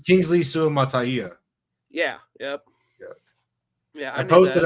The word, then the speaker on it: Suamataia: And it's Kingsley Suamataia. Yeah, yep. Yeah, I posted a pronunciation guide because I couldn't listen to any more of these podcasts.